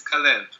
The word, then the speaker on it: Calev: sure pronouncing it right yeah it's cev calev c a l e v cev okay yeah CB look